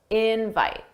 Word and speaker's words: invite: And notice how invite, the stress is on in. That's the stress syllable. Dada, invite, invite. Thanks for the invite. And that's because in this case, invite is a noun. And that's why the stress is on the first syllable.